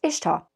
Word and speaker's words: Ishtar: it still needs correcting first her name it is to the best reckoning of academics brighter than myself pronounced Ishtar not Easter second has status as